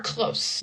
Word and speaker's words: close: So when we pronounce close with the s this is near. You are close. We are close friends. My city is close to here. The action is with the z sound.